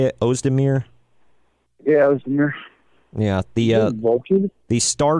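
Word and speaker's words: Özdemir: Yeah, Ozdemir.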